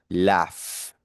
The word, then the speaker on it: laugh: Vamos entonces con el último verbo y este es laugh, que significa reírse. Laugh. Fíjense que ese GH al final se pronuncia como si fuese una F, ¿vale?